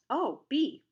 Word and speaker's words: Obe: might say if a yellowjacket wasp showed up Oh bee Oh bee a weird name maybe but I